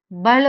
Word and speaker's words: भल: सुंदर नगर जो है वो प्लेन एरिया है, ये सुंदर नगर को ही हम बोलते हैं भल वैली, भल भाल जैसे भी प्रोनाउंस करते हैं यहाँ के लोग।